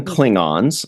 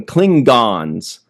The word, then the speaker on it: Klingon: By the way, did you guys notice that they pronounced Cllingon three different ways in this episode? Some of them called them Klingons like we're used to. Uh, somebody else called them cllinggon.